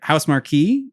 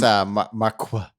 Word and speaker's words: Housemarque: It sounds like spelled like Marquee. Maybe I haven't misspelled because I don't have a good source here. I think it's Marqua.